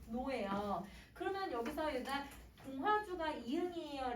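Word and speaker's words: 종로: 이거 발음하면 어떻게 발음해야 돼요, 여러분? 종노예요.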